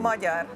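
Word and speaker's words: Magyar: Moar in Hungarian G and Y together is J Moar.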